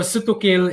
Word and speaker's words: sutukil: So sutukil is like 3 syllables broken to su, as in sugba, to grill. Tu is tuwa, is a broth based, soup based, and kil is kilawin or kinilaw.